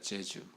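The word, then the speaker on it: Jésus: 제주 발음이요.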